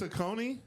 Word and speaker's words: Saucony: Saucony is Saucony? But, yeah. Yes. That's crazy. Yeah, Saucony is the correct pronunciation.